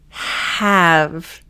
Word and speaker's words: have: If you come from a background where you're not used to pronouncing the H, this is great. You want to the H. Have. So you should feel it in your throat. It's very breathy.